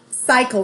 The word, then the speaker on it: cycle: This C is followed by a Y, so it makes that soft C sound. So it says, and then the Y says cycle, life cycle.